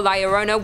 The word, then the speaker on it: La Llorona: Hailing from Hispanic folklore, La Llorona, which I'm pronouncing correctly now after you guys yelled at